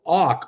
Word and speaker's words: Och: appaloosa fund management daniel och och i think it's like pronounced at awk ziff capital managing 40 billion